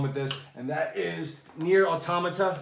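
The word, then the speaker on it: NieR:Automata: this and that is near automata that is how you say it near automata the black box edition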